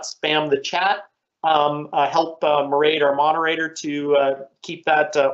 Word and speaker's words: Mairead: So as Michael said, my name is Mairead. That's Irish. It rhymes with parade if you're wondering about the pronunciation.